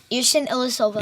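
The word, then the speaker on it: Ersan Ilyasova: Yerson Ilyasova.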